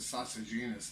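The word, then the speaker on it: Sosigenes: The lead-in guy was called Sogenes. I guess you pronounce it Sosagenus now, but when I talk about him in high school, Sogenes, that's where I'm going.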